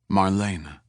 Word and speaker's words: Marlena: He pronounced it correctly. Three syllables. Marlena with a little trill to the R.